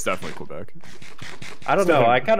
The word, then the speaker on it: Quebec: It's definitely Quebec.